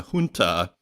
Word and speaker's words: junta: it is with uh even though it's spelled with a J it's pronounced H so is looking it up today so it's a junta which is basically a